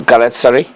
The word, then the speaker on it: Galatasaray: My pronunciation probably be off, but Galatasaray.